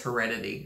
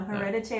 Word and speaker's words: hereditary: i'm saying it wrong it's hereditary right yeah i keep thinking it's heredity or something no hereditary hereditary it's on amazon prime